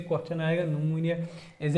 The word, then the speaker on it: pneumonia: जो है वो है निमोनिया निमोनिया जो होता है ये पी से स्टार्ट होता है और पी साइलेंट होता है तो ये भी